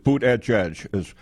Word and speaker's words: Buttigieg: No, it's Buttigieg, because as he becomes more well-known and continues